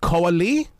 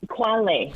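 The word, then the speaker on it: Khoa Le: Is it Koali? It's Quale. See? So you're pretty close.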